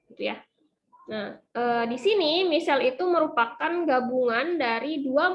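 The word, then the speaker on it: micelle: dengan lipase pankreas itu hasilnya adalah Michelle yang tulisannya micale ini ini kalau Bacanya adalah Michelle nah diameter misal ini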